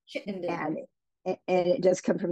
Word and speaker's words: Chittenden: I'll see well it it's actually pronounced Chittenden chitt and and it does come